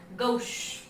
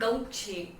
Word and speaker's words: gauche: अब जो next word है वो है गौश। इट्स नॉट गौछे, नहीं, गौश इसको प्रोनाउंस करेंगे, ये भी है फ्रेंच वर्ड।